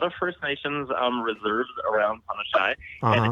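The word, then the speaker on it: Punnichy: But it's actually Punashai. Um, Oh, and it's a Cree Indian word, and there's a yeah. lot of First Nations reserves around Punashai, and Uh-huh.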